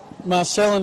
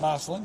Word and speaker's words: Marcellin: How do we pronounce the name of the campus? Champagne. Champagne. So that's the Mitchell Park. Yep. Marcellin is where we're at. Marcellin.